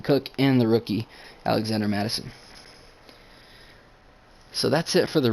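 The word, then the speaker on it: Mattison: behind Dalvin cook but we have Alexander Madison Madison that's how you say it he's 25 for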